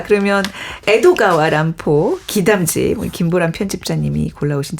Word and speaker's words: 에도가와 란포: 그 람포가 평생 존경했던 그 19세기 미국의 천재 작가이자 추리 소설의 시조새라고 불리는 에드거 앨런 포의 이름을 일본식 발음으로 바꿔서 필명을 만들었다고 해요. 에드거 앨런 포. 네네. 그렇네요. 에도가와 람포 비슷한.